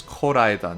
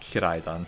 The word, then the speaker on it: Koraidon: Didn't know that I was mispronouncing it, but it is Koraidon, not Kiraidon, and Miraidon.